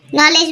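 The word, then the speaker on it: knowledge: के spelling मध्ये असतो नॉलेज मध्ये पण के उच्चारत नाही तरी तो असतो म्हणून त्याला सायलेंट लेटर म्हणतात नॉट म्हणतो के उच्चारत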